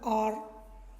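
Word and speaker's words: hour: जैसे कि देखो एच ओ यू आर, अब इसे हम हावर नहीं बोलते, हम इसे बोला आर, ठीक है, एच ओ यू आर आर बोला जाता है, तो इसका उच्चारण किससे आ रहा है, आर, ऐसे, तो यहाँ पे किसका प्रयोग करेंगे, एन का।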